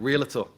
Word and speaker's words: realtor: Realtor. How do you say it? You're throwing an extra syllable in there. It's realtor. Realtor.